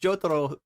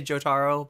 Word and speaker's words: Jotaro: is I love how he actually pronounced jotoro correctly I always just say jotaro but uh maybe Hassan